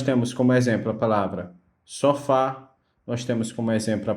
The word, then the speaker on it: sofá: A palavra sofá, ela é oxítona. Então, a palavra oxítona, ela vai ter, por obrigação, que a sua última sílaba seja a mais forte, ou seja, a tonicidade esteja na última sílaba, tá?